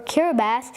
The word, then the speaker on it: Kiribati: Wikipedia tells us that the Republic of Kiribati, as it is written, or Kiribati as it is pronounced, is an island nation in the Central Pacific Ocean.